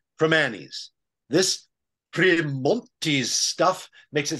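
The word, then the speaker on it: Primanti's: That is Holy stop pronouncing the T in primantis it's pronounced from Annie's this stuff makes it sound like a classy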